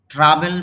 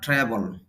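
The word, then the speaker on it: travel: Your uncle তোমার চাচাকে ট্রাভেল বলি তবে শুদ্ধ অর্জন ট্রাবল ভ্রমণ করা এব্রড শব্দের অর্থ হল বিদেশ ফ্রিকোয়েন্টলি অর্থ হল প্রায়ই আঙ্কল ট্রাভেল এব্রড ফ্রিকোয়েন্টলি।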